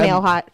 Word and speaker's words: Mailhot: name but i don't even know how to pronounce it so i go by nail hot i'm a three-year high school french student so